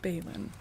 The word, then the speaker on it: Balin: So, B A L A N is Bon. B A L I N is Balon. It is.